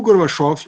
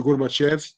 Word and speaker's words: Gorbachev: carinha lá chamado Mikhail Gorbachev, ou alguns chamam de Gorbachev, que daí seria pronúncia mais em inglês, né? Gorbachev seria mais em russo.